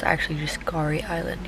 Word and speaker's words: K'gari: Also, I was just informed I've been calling it Kagari Island, but it's actually just Gari Island. You don't pronounce the K.